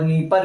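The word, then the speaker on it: Dnieper: आगे ये है आपका डेन्यूब रिवर, डेन्यूब रिवर, और यहां पे निस्टर और नीपर में जो है डी लगा के आएगा, डी साइलेंट रहेगा, तो डी लगा के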